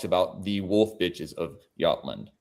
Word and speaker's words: Jutland: It's the JY. So the J is when the in Y. doubt, flip the J to the Y. Oh, okay. Jutland.